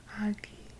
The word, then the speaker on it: aki: I've heard some elders laugh and say that the word hockey is from the Mohawk word aki, pronounced agi.